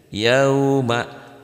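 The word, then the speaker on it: يَوْمَ: Di sini dibacanya yau kan w bukan u ya. Yauma.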